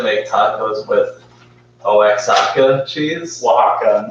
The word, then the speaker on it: Oaxaca: I don't even want to try to pronounce that, but simply make tacos with Oaxaca cheese. Oaxaca. Oaxaca.